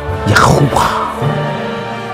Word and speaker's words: Yahuwah: So it takes the sound of a vowel, and hence the final syllable. Yahuwah, Yahuwah. And that brought the life in that.